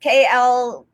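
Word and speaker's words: Klaviyo: So first of all, honestly, I don't know if it's pronounced Clavio or Clavio, because people say it differently, but it's Klayvio.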